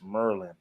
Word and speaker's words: Maryland: Merlin the cat's from Maryland they'll be like man it's not Maryland it's Merlin you know what I'm